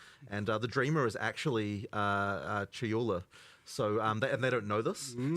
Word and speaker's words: Chayula: So the acolyte of, and I always get this name wrong. The acolyte of is it Chalula? Chayula. Chayula. I always say this wrong.